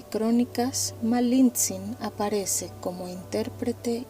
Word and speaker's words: Malintzin: nombre de verdad es Malinzin. Puedes pronunciarlo suave, malin con una caricia al final. Hay algo dulce en repetir su nombre. Malinzin, como una cuerda que al mecerse no golpea, solo vibra.